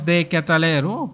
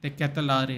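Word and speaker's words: De Ketelaere: Charles de Catalero, the person we were talking about earlier at FIFA. Olivier Giroud, penalty scorer. Charles de Catalero on for him. Young kid, huh? Sorry, de Catalare, it's pronounced apparently.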